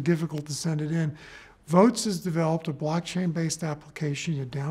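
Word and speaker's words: Voatz: One, a company called Votes, which is spelled V-O-A-T-Z, is being used by West Virginia right now in the election in November 2018.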